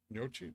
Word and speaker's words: gnocchi: Gnocchi?